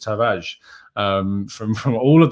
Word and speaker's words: Tavares: from his own pronunciation you don't pronounce the r uh very you know it's not like a hard r and so it's just taraj um from from all